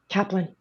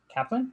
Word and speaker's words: Kaplun: shannon how do you say your last name kaplan kaplan okay and then levi it's new yeah hurry